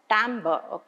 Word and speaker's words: timbre: We pronounce it as timbre.